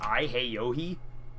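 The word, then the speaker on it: Yahoxi: to pronounce his name, and it's Heyohi, and it's spelled Y-A-H-O-X-I, Heyohi.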